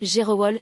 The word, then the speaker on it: Gerewol: Chez les Wabé prononcé, Gerowol, s'est convoqué tout un imaginaire, la poussière soulevée par les pieds nus.